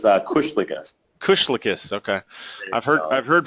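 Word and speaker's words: Kuslikis: every time no that's the right it's a Kush Kush lius okay I've heard I've heard people call you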